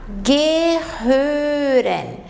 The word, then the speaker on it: gehören: tem que cuidar que aqui o h ele vai ter som de dois erres guir o ó está com uma laut und halt Então a gente vai pronunciar Gere é o verbo pertencer